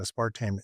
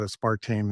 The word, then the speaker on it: aspartame: good data showing that a spartame is bad and spartame has two pronunciations but I call it a spartame and the other I can't even remember what the other aspartame yeah yeah okay